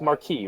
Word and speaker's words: Marquis: so what is the how do you pronounce is it Marquis m a r q i s it's Marquee right Mar that's what I thought okay it's French so I have a